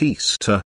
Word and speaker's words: Ishtar: equinox semiramis became known as ishtar which is pronounced easter and her moon egg became known as ishtar